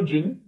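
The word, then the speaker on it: djinn: तो उस जानवर को कोई कुछ भी कहता, वो कभी सहमत ही नहीं होता था, हमेशा हम्प ही बोला करता था। इवन द क्लेवर जिन, जिन इसमें डी साइलेंट रहेगा।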